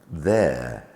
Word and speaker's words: there: The same with there, here, there. We've got T-H-E-R-E, making the sound th plus air. So that's an R-controlled vowel sound.